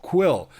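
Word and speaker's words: Kuiil: I believe it's pronounced Quill. Quill. And the voice is played by Nick Nolte, which you hear that voice, and it's like, yep, that's Nick Nolte.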